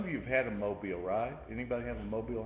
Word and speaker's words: mobile: look at the word m-o-b-i-l-e and you think of mobile but mobile is how this is pronounced just like alabama mobile alabama but a mobile is